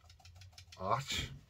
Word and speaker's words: Arches: size if you go arches which isn't pronounced arches it's och it's a french word i believe um those